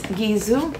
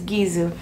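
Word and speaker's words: Gisou: I'm always talking about this brand and it's gizo I finally learned how to pronounce it it's gizo I got a little set for you guys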